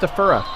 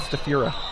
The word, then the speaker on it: Stafura: It's pronounced Stafura, not Stafura. He corrected me once.